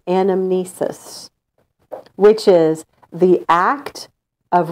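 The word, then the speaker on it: anamnesis: all true knowledge is animesis so what's it called when you lose your memory what's that word Amnesia okay so this sounds kind of similar but it's animesis all true knowledge is animesis which is the act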